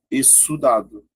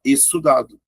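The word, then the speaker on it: exsudado: Porque a pronúncia é a seguinte, fica só um Szinho, ó, exudado. Ah, professor, isso aí é o quê? Ah, isso aí é de suar. Então, ó, exudado. Tá vendo?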